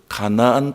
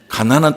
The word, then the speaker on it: 가나안: 그리고 가나안 땅을 딱 보냈는데, 가나안 땅이, 이 발음을 잘해야 되죠? 가나안 땅. 가난한 땅이 아니잖아요.